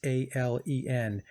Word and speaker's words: Esalen: You could take a look at one of the networks of Tavistock called Esalen. I believe that's how you say it. It's Esalen, the Esalen Institute.